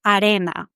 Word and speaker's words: arena: But what happens with words like arena, for instance? The strongest syllable is re, the second one. So this first A is not a strong one.